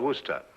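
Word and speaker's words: Worcester: something else too doc but it's spelled w-o-r-c-e-s-t-e-r we're sister oh yes i say yes lord wooster mm-hmm his mind would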